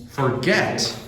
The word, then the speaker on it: forget: ball over the net so where's the stress first or second syllable anyone know second second get forget forget not forget it's forget forget forget oh did you